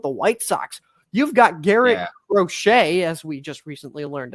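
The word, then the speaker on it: Garrett Crochet: same thing with the white socks you've got Garett rochet as we just recently learned it's properly pronounced who is a currently a Sai Young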